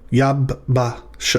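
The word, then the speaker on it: יַבָּשָׁה: So this is the syllable yav, followed by ba, and then we've got sha. Yab ba sha.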